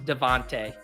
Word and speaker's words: DeVonta: No, it is pronounced Devontae.